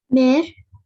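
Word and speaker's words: mère: Mare.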